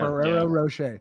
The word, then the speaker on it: Ferrero Rocher: Ferrero Rocher.